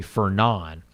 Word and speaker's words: Fernand: It's spelled Fernand. It's actually Fernand.